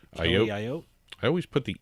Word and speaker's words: Ayotte: We have Governor Kelly Ayotte. I guess that's how you say her name. I apologize. I think it's Ayotte. Ayotte. I always put the E in there for some reason. Ayotte.